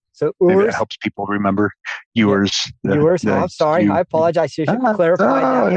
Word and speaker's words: Ewers: note that my my my last name is pronounced yours. It's like a it's ew. So, I tell people it's like a female sheep, like a u with an RS on the end.